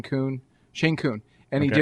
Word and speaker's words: Kuhn: I forget how you pronounce it. You're doing great. K-U-H-N, Kuhn.